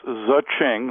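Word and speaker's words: Zhing: well the name is zaching like Ching only we couldn't get Ching registered so we now change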